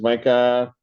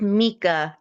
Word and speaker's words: Mika: It's pronounced Mika.